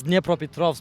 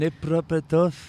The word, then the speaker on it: Dnipropetrovsk: It's Dnipropetrovsk, but like Dnipropetrovsk. Yeah, it was actually not that bad, but like they changed it. Right now it's just Dnipro, Okay. So on my passport, like it's still Dnipropetrovsk, but if I get a new passport, it's